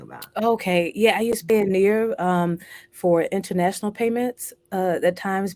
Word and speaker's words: Payoneer: I would say Pioneer. It's Payoneer.